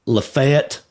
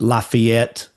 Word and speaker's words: Lafayette: There's a Lefett and Lafayette, you know.